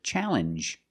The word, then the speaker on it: challenge: This word too, challenge, makes the same sound. The regular N plus the J sound.